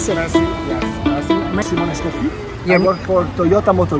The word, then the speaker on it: merci: Did I pronounce it right? Mercy. Merci.